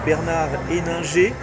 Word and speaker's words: Bernard Henninger: Donc Bernard Héninger, c'est comme ça qu'on prononce.